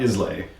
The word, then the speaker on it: Islay: Which a lot of people, I think when they first encounter Islay, they mispronounce it frequently. Yes. It's not Islay. It's not Islay. Yeah, it's Islay. Islay. Yeah. As in, I love Islay.